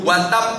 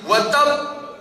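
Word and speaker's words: وَتَبَّ: pun membacanya seik dipindo watap tidak boleh watap gitu tapi watab Saking gregetene Gusti Allah sama Abu Lahab istrinya katutroatuhu hammalatal Allahumma shi ala Muhammadin.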